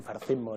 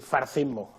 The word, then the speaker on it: fascismo: No pueden decir fascismo, tienen que decir farcismo. Entonces, R, C y después una H aspirada, ¿no?